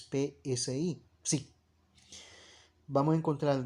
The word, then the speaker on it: psi: griegas del ipsi si eso se pronuncia es psi sí vamos a encontrar